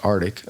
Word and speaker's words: RTIC: like Artic does pretty it's RTI pronounced Artic um um they do